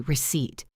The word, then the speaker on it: receipt: R-E-C-E-I-P-T, receipt. The P is completely silent. You say receipt.